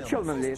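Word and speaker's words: Cholmondeley: Чолменли. Чолменли. Так читается? Да, Чолменли. Все просто. Но написано Чолмондли. Но читается по-другому.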